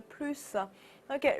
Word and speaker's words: plus: 好，後面 le plus tôt，le plus tôt，注意 le plus tôt，那我們那個 plus 的